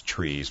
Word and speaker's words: TRIZ: this simple newsletter now the correct pronunciation for the acronym is trees but you'll hear people